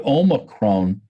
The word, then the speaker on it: Omicron: And then we started talking about COVID and I'm going to pronounce it right. Thank you to Mike Deering, the Omicron strain of the virus.